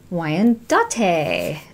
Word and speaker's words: Wyandotte: one is the golden lace see burping episode Wyandotte what you pronounce that golden laced wyandottes a thank you but it's like her chicken